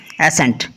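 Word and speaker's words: ascent: जैसे देखो एसेंट, पहला हमारे पास वर्ड है ना एसेंट, एस के बाद सी है साइलेंट है।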